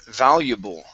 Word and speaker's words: valuable: Um, let's go to the word valuable. So stress is at the very beginning. Okay. And we're we are going to say these different vowels here. So it's valuable. Valuable. Valuable.